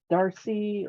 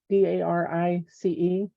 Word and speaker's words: Darice: I had bought them from, is it Darcy, or how do you say that? Darice.